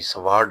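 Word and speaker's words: sword: को स्वाड कहते थे, लेकिन हमें ये स्वाड आएगा, लेकिन डब्ल्यू यहाँ साइलेंट होगा तो स्वाड हम इसको करेंगे।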